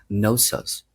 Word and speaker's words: Knossos: So it's Knossos and the stress goes on the last syllable.